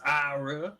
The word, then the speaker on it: Eira: It's Ira, which is spelled Eira, and then McCormick, which is M little c big C ORMICK.